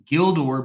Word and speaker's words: Gildor: g always has the value of G in get guild even when followed by EI or Y gildor begins as does Gilbert region begins as does